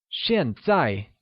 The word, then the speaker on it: 现在: 现在 uses a falling tone on both A's. Remember that X carries a sh sound in Mandarin. Can you try saying 现在?